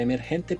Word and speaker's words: MRGNT: Emergente se escribe como la palabra emergente, pero sin las 4e, o sea, terminan siendo solo consonantes, ¿no? MRGNT se pronuncia emergente y está disponible para